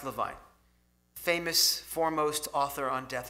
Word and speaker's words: Levine: saw a book by a man named Stephen Levine, pronounced Levine, famous foremost author on death and dying, along with Elizabeth Kubler-Ross.